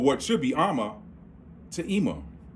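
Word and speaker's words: אמא: When you got ma, ah, they pronounce it Ima.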